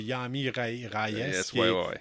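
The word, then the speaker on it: Jaime Reyes: re ok ouais y Yam parce que c'est la façon de le prononcer au début je un peu mélangé finalement c'est Yamy rayes James Jamie Ry qui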